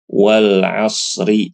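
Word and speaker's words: والعصر: karena waqaf ini aslinya Wal Asri Asrinya berharakat kas kasrah tapi dia disukunkan karena waqaf untuk memudahkan jadi ini langsung disukunkan kayaknya ya bacanya walasr Wal asr tebal begitu juga contoh yang kedua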